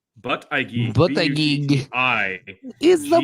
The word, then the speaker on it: Buttigieg: It's but I geek. But I geek.